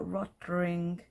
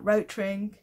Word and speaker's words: Rotring: is rot ring literally red ring is german so you see the red ring on all of their tools and their pens for example this is a rottering pen but i often forget to pronounce it so beautifully and i'm like rotaring anyway all right so